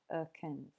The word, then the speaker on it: Americans: And then with Americans, again, we've got schwa, The stressed syllable mare gets its full vowel sound, but the other two unstressed syllables do not. Americans.